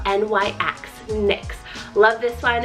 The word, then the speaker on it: Nyx: Next is the name Nyx, spelled N-Y-X, Nyx.